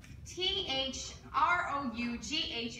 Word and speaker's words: through: days work was rough hold it Shakespeare throw th ro ug H is pronounced through sir that's what I always say